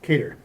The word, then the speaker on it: Cater: from Arise Chicago, Adam, is it Cater or? Yes. Cater, who is the gentleman that just said yes, as you would assume, since he knows how to pronounce his name.